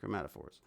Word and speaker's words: chromatophores: It is amazing how is it chromatophore? Chromatophores. Is that how you say it? Chromatophores.